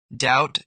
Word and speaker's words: doubt: The error pronouncing the K in no or the B in doubt. Common silent letters silent K. No, knife night. Knock knee. Silent B, doubt, debt, climb, thumb, lamb.